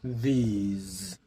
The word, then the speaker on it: these: তারপর পরের যে শব্দটা আছে THESE, সেটার মধ্যে এস এর উচ্চারণটা হবে বর্গীয় জয়ের মতো, সেটা হবে দিজ।